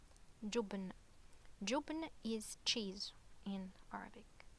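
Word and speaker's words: جبن: And a dhamma above, so it's pronounced like jubn, jubn.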